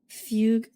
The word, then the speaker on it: Fugue: Fugue. That's just how it's pronounced, Thomas.